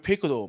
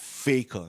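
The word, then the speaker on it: Faker: 우리 왜 페이커도 맞잖아요.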